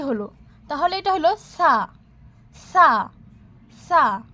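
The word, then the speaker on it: ث: তাহলে এটা হলো সা, সা, সা। পাতলাভাবে আমরা সাকে উচ্চারণ করব সা, সা, সা।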